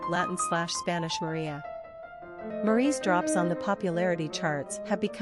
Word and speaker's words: Marie: Pronunciation, Marie, French or Maitri, English.